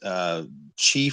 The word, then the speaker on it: qi: is directly correlated to Chinese qi flow, I think is how it's pronounced, QI, qi flow of the body.